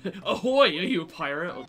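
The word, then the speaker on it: ahoj: people this is a kid they'd be like ahoy are you a pirate or some [ __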